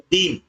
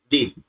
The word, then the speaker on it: दिन: दिन और ये दीन, इसमें छोटी है, उच्चारण करते हैं तो जल्दी होता है दिन, और जब दीन का उच्चारण करते हैं तो यहां पर ई की मात्रा में थोड़ा समय अधिक लगता है ना, दिन।